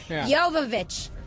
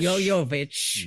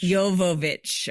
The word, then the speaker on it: Jovovich: Yoyovich. Yo, not Yoyo. Okay. What am I? Yooich. Yoovich.